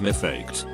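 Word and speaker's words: מפקד: sergeants in hebrew is me faked which is pronounced very similarly to my duck head so chuckles being a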